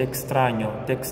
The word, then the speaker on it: extraño: E olha só a pronúncia, te extraño, com A aberto, tá? Não é te extraño, é a, te extraño e não te extraño. Viram a diferença? Te extraño, assim é o correto.